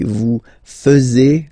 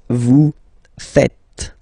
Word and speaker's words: faites: And it's quite funny because many French people tend to make the mistake and tend to say vous faisiez, okay? But then no. It's vous faites. Vous faites, okay? So remember, final S here is not pronounced, and then this E is not pronounced either.